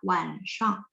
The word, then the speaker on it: 晚上: 晚上。晚上。Sebenarnya nada shang dia bisa yang Misalnya kalau sistem Taiwan bacanya 晚上, ya nggak? 晚上. Nah, kalau Beijing dia bacanya 晚上.